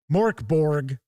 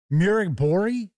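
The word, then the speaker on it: Mörk Borg: So this person is like, why don't you just learn how to pronounce this? It's pronounced, what was it? Murigbori? Something like that. They actually put the, kind of the pronunciation there. And I think that was how it came across. Mirk Bori.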